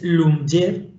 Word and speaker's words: Lyumjev: Se llama, bueno, el nombre es un poco impronunciable tal y como viene, es Lyumjev sería teóricamente, pero bueno, parece que la lectura que hacen los ingleses es Lyumjev.